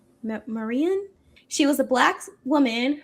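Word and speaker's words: Marion: Jack and Jill was founded by Marian. I'm pretty sure that's how you pronounce her name. Marian. M A R I O N. I can't really imagine saying it any other way. Marian, she was a black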